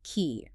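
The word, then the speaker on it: quay: It's pronounced exactly like the word key.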